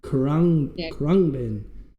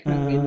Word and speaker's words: Khruangbin: I never know how to pronounce the name. Khruangbin. Yeah, Khruangbin, yeah.